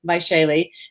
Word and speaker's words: Vaishali: there on the screen h a l v-a-i-s-h-a-l-i by shaylee and how do you say your last name